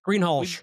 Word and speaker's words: Greenhalgh: we Greenhalgh. we pronounced that all correctly because you did it.